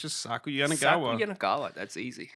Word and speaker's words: Saku Yanagawa: If you can spell, it sounds like Hakuna Matata. Saku Yanagawa.